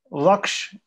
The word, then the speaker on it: lakh: Then Alak from a term Laksh in Sanskrit. In Hindi they pronounce it as Lak.